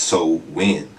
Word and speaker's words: Samhain: So in modern times, Samhain, or how it's pronounced in their culture, is Samhain, is usually celebrated from October 31st to November